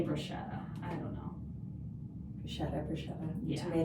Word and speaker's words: bruschetta: chatting with colleagues, munching on mozzarella sticks and bruschetta. How do you say it? Bruschetta.